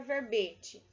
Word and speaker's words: verbete: explicação para a palavra verbete, né? Verbete, então nós temos aqui como que pronuncia essa palavra com E fechado, né?